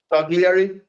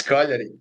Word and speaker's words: Cagliari: Tell me one Italian team I mispronounced, Goran. Cagliari. Cagliari. What? That's how you pronounce it. No, it's Cagliari.